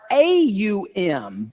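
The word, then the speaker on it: Aum: It can be spelled O-M or A-U-M. Both are correct, and they're pronounced exactly the same. It's not like one is pronounced slightly different because when 2 vowels come together in Sanskrit, the A and the U, the second vowel becomes silent.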